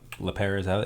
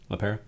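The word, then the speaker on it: LePera: her last name up la perez she pronounced it la pera that's her hashtag like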